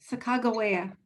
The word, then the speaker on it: Sacagawea: Well, Kevin Locke told me that's the pronunciation. Sacagawea.